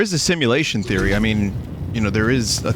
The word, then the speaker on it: mu: Wait, isn't that moo? Yeah, I think it's moon. Oh. But I believe in Greek it's pronounced me, I'm pretty sure. That's weird. The way that the mathematics community pronounces Greek letters is a lot different than actual Greeks pronounce Greek letters.